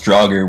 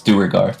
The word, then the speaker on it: Duergar: I pronounced them as Draugr, which caused everyone to attack them without remorse because Skyrim, but it's Duergar.